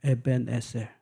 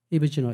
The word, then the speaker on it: 에벤에셀: 여호와 라파 막 많은 이름 붙였는데 이 사무엘은 이 돌 이름을 에벤에셀, 이거 히브리어입니다. 에벤에셀. 이브지노 이건 영어 발음이고 에벤에셀.